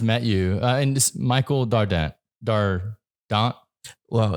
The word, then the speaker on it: Dardant: you, and this Michael Dardant. Well, it's French again, so it's challenging. The T is silent, but nobody says it right. So I'll accept all forms of the name Dardant or Dardant.